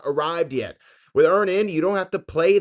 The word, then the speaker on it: Earn In: That's Earn In, spelled like earning money without the G.